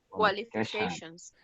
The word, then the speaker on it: qualifications: Qualifications. Qualifications. Remember, this is an E sound.